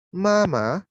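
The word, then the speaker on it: 妈妈: Papa artinya ayah, mama artinya ibu. Nah, kemudian diperhatikan nadanya ya. Kalau papa itu dia nada keempat, ya. Mama dia nada pertama.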